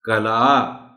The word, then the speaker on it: قلعہ: کو بھی بتائیے گا۔ یہ تلفظ ہوگا کلا۔ دیکھا میں نے عین کو کسی حد تک نمایاں کر کے پڑھنے کی کوشش کی ہے، کلا، کلا۔ صحن، صحن، صحن